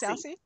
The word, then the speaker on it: Stassy: okay so so uh is it Stacy or Stacy am I mispronouncing it stassy so stassy she has her own pronunciation if you know what